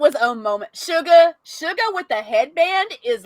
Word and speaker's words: Suga: look shook a shirt s-u-g-a it's actually shoe it's actually suga it's actually sugar sugar if you pronounce it korean but yeah by the